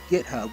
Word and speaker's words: GitHub: I tend to pronounce GitHub with a soft G like J. Jub.